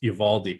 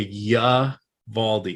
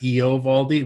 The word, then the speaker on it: Eovaldi: leibowitz is watching because i think i've pronounced evaldi correctly it's kind of like a ya valdi it's not eovaldi which i always thought it was and i went back